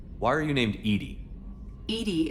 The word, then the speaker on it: EDI: are you named Edie Edie is the phonetic pronunciation of EDI what do you do